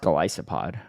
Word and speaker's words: Golisopod: it's apparently pronounced Golisopod, which I hate.